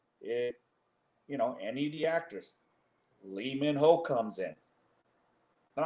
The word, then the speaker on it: Lee Min Ho: Well, it's pronounced E Min Ho, but Min Ho Lee, famous actor in Korea.